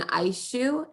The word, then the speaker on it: Aishu: So we also have had the pleasure of bringing on Aishu, is how she prefers that you say her name.